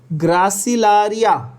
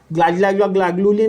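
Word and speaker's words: Gracilaria: Gelidium, repeat after me, agar is obtained from Gelidium, बोलो, एंड ग्रासिलारिया, ग्लागलूली नहीं, ग्रासिलारिया, तोतले जैसा मत बोलो तुम लोग, ग्रासिलारिया को ग्लासिलारिया बोल रहे हो। ग्रासिलारिया क्या है?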